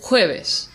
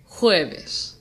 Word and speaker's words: jueves: Now let's try the word jueves. Jueves. Jueves is just like lunes. It ends in an S, and S is one of the two consonants that falls under the llana category, which means that the emphasis is on the second to last syllable, which in this case is jue.